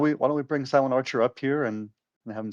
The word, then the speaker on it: SilentRcher: Um, his name is Silent Archer on YouTube. That's s i l e n t r c h e r. So, no uh no a in the middle there. Just just silent archer.